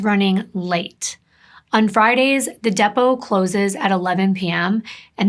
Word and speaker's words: Depot: They had plans to meet at a local bar and restaurant called Depot. Here in the US, we would actually pronounce this as Depot, but it's an area